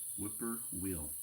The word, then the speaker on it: whippoorwill: Whipper wheel. That's how you say it.